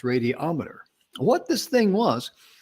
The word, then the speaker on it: radiometer: put the word meter behind it but it's pronounced radiometer what this thing was it's a little vacuum